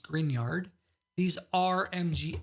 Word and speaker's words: Grignard: - these are called grignard reagents that's pronounced green yard these are mg x